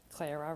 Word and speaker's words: Clara: Clara rhymes with Sarah.